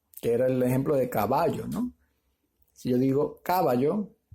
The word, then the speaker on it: caballo: Bueno, ya te di una, que era el ejemplo de caballo, ¿no? Si yo digo caballo, no suena bien. O caballo, tampoco suena bien. Sin embargo, si digo caballo, sí suena correcto.